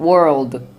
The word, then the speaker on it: world: 월드 같은 경우도 world 이렇게 world까지 확실하게 발음하셔야 그래야 정말 효과적으로 의사소통을 할 수 있는 영어 발음이 됩니다.